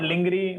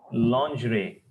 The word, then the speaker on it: lingerie: jat hasand laer true it is not linger or whatever you say it is lerie lingerie woman undergarments not Ling L